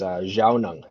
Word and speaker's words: Zhaawnong: And my pronunciation is Zhaawnong.